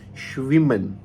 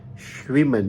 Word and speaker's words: schwimmen: अगर कोई भी अल्फ़ाबेट किसी वर्ड के अंदर डबल आ जाए, लाइक कहीं पे भी डबल M आ जाए, कहीं पे डबल N आ जाए, कहीं पे डबल S आ जाए, तो हमने इसके ऊपर थोड़ा स्ट्रेस देना होता है. लाइक इसके ऊपर थोड़ा जोर लगा के हमने पढ़ना होता है.